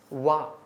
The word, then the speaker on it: one-eyed: One-eyed. The pronunciation is wa. So the answer is here a.